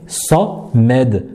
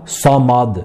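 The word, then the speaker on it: الصمد: Donc nous dirons Sa-Med, Sa-Med, Sa-Med. Et non, nous ne dirons pas Samad, Samad, non, Samed, Samed, ok?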